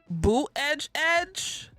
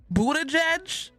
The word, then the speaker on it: Buttigieg: Boot edge. Buttigieg.